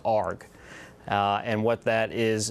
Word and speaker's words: ARG: That's shorthand, Navy shorthand for Amphibious Ready Group, and it's pronounced ARG.